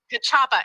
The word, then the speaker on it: Kachaa: that correctly kachaa proda kachaa and it it's it's literally kachaa it's like you know a karate chop oh how cute is